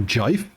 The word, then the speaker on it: GIF: The pronunciation that I go for is G-I-F, so jive.